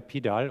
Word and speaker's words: PDAL: Ein Pendant dazu für Punktwolken, Point Cloud, Point Data Abstraction Layer, PDAL oder auch PUDL in US-Englisch ausgesprochen, ist eine Software, die wirklich hochinteressant ist, um sogenannte Pipelines aufzusetzen.